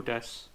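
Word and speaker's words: です: If you see su at the end of certain words like Ohayo gozaimasu, or Benkyou shitemasu, or Daniel desu, the su on the end of these words will sound more like an S instead.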